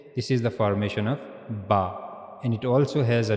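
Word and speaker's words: ب: Ba ba as it as it written there pronounced by the inner wet part of the lips. So inner side of the lips you have to connect the inner parts of the your of your lips.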